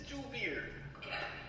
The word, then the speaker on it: Javier: Am I Spanish? Mexican? Pronounce your J's. No. Spanish people don't... What is it? Mexican people don't pronounce the H's. I mean, they pronounce the J's. H's. Do I look Mexican to you? Look Mexican. You could be Dominican. Look Mexican. So. It's Joovier. Okay.